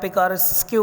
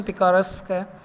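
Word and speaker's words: picaresque: इसे आप पिकारेस्क्यू भी कह सकते हैं, वैसे प्रोनाउंसिएशन पिकारेस्क है।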